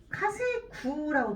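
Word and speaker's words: 稼ぐ: 자, 농사 가짜는 지금 어떤 애가 들어가 있냐면 카세구라고 들어가 있죠.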